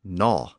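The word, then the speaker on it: gnaw: front also disappeared and it became simply no of course we still spell it with that g at the beginning g n a w because the initial G was once pronounced but the Vikings brought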